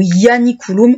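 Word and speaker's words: Ianiculum: va retenir le plus ou janikouum ou yanikouum si vous voulez vraiment le prononcer tel qu'on le prononçait en latin sur place il réussit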